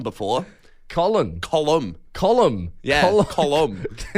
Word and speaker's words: Colin: I've got Column before. Colin.